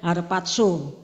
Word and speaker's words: harpazo: up itu bahasa yunaninya harpatso ya tidak ada d-nya tidak ada t-nya harpaso tetapi kalau bacanya harpatso lah sementara ya Alkitab bahasa